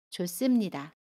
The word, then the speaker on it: 좋습니다: 그래서 좋습니다는 좋습니다 라고 발음합니다. 받침 히읗은 발음하지 않고요. 습은 씀으로 발음합니다. 좋습니다.